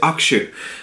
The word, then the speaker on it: Hakushu: Now, you can see over there, some people pronounce it Hakushu, some people pronounce it Hakushu, but the actual official way, according to a few Japanese friends I know, told me to pronounce it Hakushu.